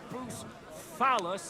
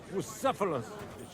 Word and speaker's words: Bucephalus: What kind of name is Bruce Phallus, anyway? It's pronounced Bucephalus. See you now.